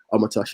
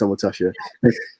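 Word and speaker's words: Omotosho: Omatosha is O-M-O-T-O-S-H-O. Omatosha. It sounds Japanese at times, but yeah, it's Omatosha.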